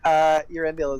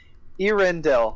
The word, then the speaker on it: Erendil: It's Erendil. I keep saying it wrong. Erendil, right? Erendil? Erendil. Dill like a pickle.